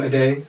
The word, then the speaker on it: Ade: A day. You were close. That's what they call him. A day.